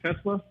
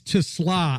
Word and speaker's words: TeSlaa: Yeah, I'm kind of looking forward to So, how how do you pronounce his name? Is it Isaac Tesla? Yeah, it's Tusla.